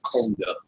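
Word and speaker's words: Coandă: How much of it's Fonda, but we would pronounce it Conda.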